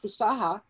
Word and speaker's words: Fasaha: And my co-author, her name is actually pronounced Fasaha, Fasaha Traylor.